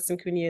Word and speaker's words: Syncunia: and to hear what Syncunia is doing. Welcome, Isa. Thank you. I like the way you pronounce Syncunia. You got it right.